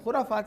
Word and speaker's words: خرافات: خرافات سے نکل کے، جو صحیح تلفظ ہے، خرافات سے نکل کے ہمیں اس درد